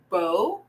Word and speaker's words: bow: they are the same but they are pronounced differently okay we have bo and we have vowel a noun and a verb so they may spell